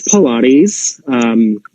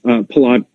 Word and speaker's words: Pilates: I am you know if I'm in the United States it's Pilates I think in Europe it's it's mostly artists palod Pilates I think I think